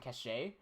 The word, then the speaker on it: cache: No, you can read that as cash or cache. Doesn't matter. Okay. I'm fine with cash and cache. But everyone here in Australia says cache.